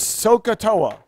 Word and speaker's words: SOHCAHTOA: And if you remember SOH, CAH, and TOA, and you pronounce that word is SOHCAHTOA.